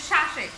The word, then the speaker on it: শ্বাস: এই দেখো এখানে কিন্তু এই বর্ণের উচ্চারণে একটু ঝোঁক পড়ছে, একটু ধাক্কা লাগছে শ্বাসে। এটার যদি উচ্চারণ হয় শ্বাস, শ্বাস, শ্বাস।